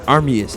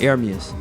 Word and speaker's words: Ermias: whole life you know if you look at how it spelled it's spelled like it's it's like it's like armus e r m i a s but pronounce it arus so they you know